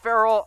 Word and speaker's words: Ferrell: sided and it's been for rail it's for Farrell where there's a bunch of different pronunciations I'm giving this one to Chuckie heads